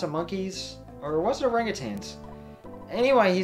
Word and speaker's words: orangutan: desert oh in european languages oh is it orangutans no it's orangutan but it's a reality people have tended to pronounce it by rhyming the lat the second